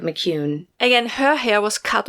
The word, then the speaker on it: McKeown: i mean mispronounce it it's mc and then k-e-o-w-n i think that's the best we can do with mccune again her hair was